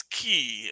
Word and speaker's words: qi: He is Goldhorn Penguin now, and he is eating everybody's chi, or it's spelled QI. And I learned that can also be a CH or a C sound, so that's what's going on there.